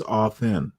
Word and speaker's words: often: rabbit hole way too often and yet we never often the better way to pronounce it, the higher class English is often. Don't pronounce the T.